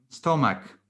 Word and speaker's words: stomach: Stomach. Stomach. The pronounce, despite the how is written, right? CH, then the pronunciation is stomach.